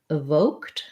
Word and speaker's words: evoked: melancholy um and then for your other word evoked evoked we have second syllable stress so here's another place where i would start with the voc syllable and the o says um it's a diphthong in american english says o hold it a little longer the e d and evoked says the t sound because um the k